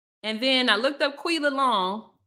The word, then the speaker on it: Quilla: And then I looked up Quilla Long. That's how you say her name, Tequila.